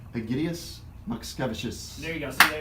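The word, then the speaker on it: Egidijus Mockevičius: Egidius Makskevicius.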